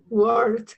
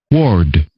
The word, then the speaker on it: word: Word. Con no. Pero no es con no, imagínense, es con esta. ¿Cómo se pronuncia? Word.